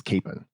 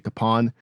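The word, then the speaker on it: Kapaun: people in that Hometown thinking that his name is Capen when it's actually kapon that's the pronunciation the White House used when they gave him the Medal of Honor the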